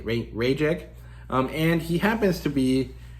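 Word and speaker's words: Rayek: It's Ray. It's like Ray E.K. Rajek.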